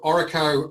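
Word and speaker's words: Orreco: of course so um so oracle um as we pronounce it so it stands it's sort of broken up is all recovery so ore is irish for gold so it's gold recovery and the two founders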